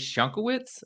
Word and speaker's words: Schunkewitz: I'm sitting here with a new friend Elise shankiewicz I believe I pronounced that correctly but say hi to the